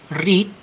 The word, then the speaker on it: read: artinya sedang memukul selanjutnya read read read reading Nah jadi kalau membaca verb satunya itu read membaca kalau verb duanya itu red ya tulisannya sama tetapi pengucapannya berbeda read red red reading